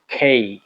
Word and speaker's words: K: এরপরে যেটা আসে, এটাকে আমরা কে বলে থাকি। মাথায় রাখতে হবে কে না। এবং এটাকে শুদ্ধভাবে যদি উচ্চারণ করতে চাই, তাহলে আমাদের বাংলায় ওই বর্ণমালাই নাই প্রকাশ করার মতো। এটা ক এবং খ এর মধ্য থেকে আসবে এবং এটাকে যদি আমরা বলতে শুদ্ধভাবে বলতে হবে খেই খেই খেই।